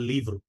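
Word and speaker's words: livro: লিব্রু আর পর্তুগিজে বলে লিভ্রু লিভ্রু মানে ভকে ভ এর মত উচ্চারণ করছে ঠিক আছে আবার আপনি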